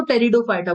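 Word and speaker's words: Pteridophyta: P silent रहता है, इसको टेरिडोफाइटा बोलते हैं, टेरिडोफाइटा।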